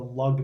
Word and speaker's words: lagna: the rising sign the Lugg now L AG and a it looks like lagna but it's pronounced lug not lug now we